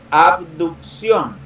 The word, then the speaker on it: abducción: extensión luego el término abducción ojo en la pronunciación a b a abducción significa separarse abrir abrir